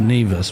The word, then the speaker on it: Nevis: Nevis. Pronounced Nevis.